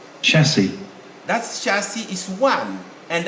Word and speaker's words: chassis: it's just chassis and the plural of chassis is the same spelling except that that same spelling would now sound said listen this is the plural same spelling is the plural listen chassis chassis you hear they said at the end chassis the same with the